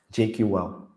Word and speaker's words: JQL: Is it JQuil or JQL? JQL.